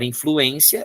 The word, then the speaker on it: influência: Se eu quiser pronunciar influência, eu coloco acento, senão fica influencia.